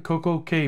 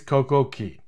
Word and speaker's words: CocoCay: my next video reviewing Coco K beach club I'm going to continue mispronouncing perfect day at CoCo K I know it's CoCo Key but if you think